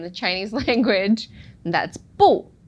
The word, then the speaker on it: 不: Now in the dictionary, it's always going to be the pinyin 4th tone, 不.